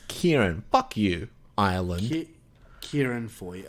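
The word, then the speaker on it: Ciarán: It's a stupid fucking Irish name. It's Kieran. The director? Yep. Oh, Christ. It's Kieran.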